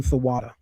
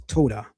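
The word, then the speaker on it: תודה: That's the pronunciation theatada. Theatada is used to say thank you. Those that really know Hebrew, we know that the way to say that in Hebrew is toada.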